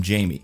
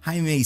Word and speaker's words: Jaime: but she's stubborn and won't stop calling him Jamie. But Jaime speaks his name. It does not appear to be written on any list, and she knows that means it is spelled J-A-M-I-E and then actively chooses to mispronounce it.